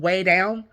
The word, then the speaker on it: Weigh Down: In 1986, she starts this workshop class called Weigh Down. So basically trying to, like, lose weight. So it's spelled like, you know, a W-E-I-G-H. But also could be, sounds like weigh, like W-A-Y.